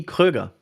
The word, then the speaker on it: Kröger: That would be Kröger.